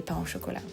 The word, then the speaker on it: pain au chocolat: And please, from now on, try to say pain au chocolat.